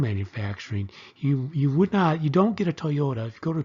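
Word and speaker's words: Toyoda: So Toyota's big thing, and again, this is spelled a D, but this is actually Toyota, like the car.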